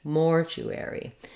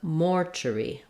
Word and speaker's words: mortuary: a clear vowel so in this case Mortuary we have the letters AR saying air in American English Mortuary so that means that air takes a little longer to say because it has the clear vowel versus if it were not stressed no secondary stress like it is in British English we have Mortuary Mortuary so we lose our air and actually we lose a syllable there as well Mortuary versus